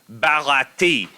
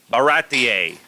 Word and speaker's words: Baratie: person would say barati. They would not say baratier. Okay, that's like a very Spanish type, maybe Italian pronunciation.